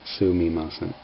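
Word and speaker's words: すみません: key vocabulary is it the pronunciation of uh sounds like silly mason but it's written sumimasen it's just that that's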